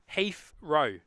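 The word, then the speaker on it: Heathrow: have dinner Carolyn saying pronounce he herro dead giveaway for an English accent that's very true hro Heath row could be like Heath row so h e a f row or like Heath as the name as it's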